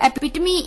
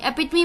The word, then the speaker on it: epitome: शाम का, वो है एपिटमी, EPITOME, एपिटमी। एपिटमी, पहले तो ये वर्ड एपिटमी है, एपिटोम नहीं है, तो इसकी प्रोनाउंसिएशन एपिटमी ही रहेगी, EPITOME, एपिटमी।